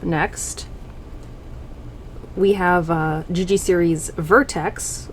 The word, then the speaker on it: Vertex: We have GG series Vertex, which I always mispronounce as Vevtex because of how the icon looks.